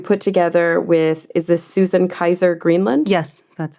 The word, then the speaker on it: Susan Kaiser Greenland: about, that you put together with, is this Susan Kaiser Greenland?